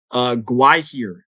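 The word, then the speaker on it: Gwaihir: Gwahir. Gwahir. Okay, I've never actually heard someone pronounce it, so that's good I to think know.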